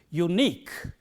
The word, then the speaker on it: unique: The stress is on the last syllable in words like this. So, the way of pronouncing it correctly is unique.